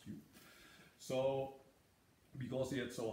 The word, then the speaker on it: いふ: Yu today would be written with E-U, means to speak, and in the old days it was E-Fu, although it's still pronounced Yu.